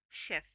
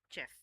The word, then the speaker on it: chef: Okay, the pronunciation of this word is chef. It's not chef.